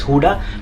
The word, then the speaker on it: Gouda: And guys, ये Amsterdam airport पे हुडा चीज़, actually it's spelled as गूडा with ji, बट इसका pronunciation is हुडा।